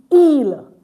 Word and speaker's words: ils: The next one is ill. Ill meaning day. So see it's not eels. Don't forget the s is not pronounced.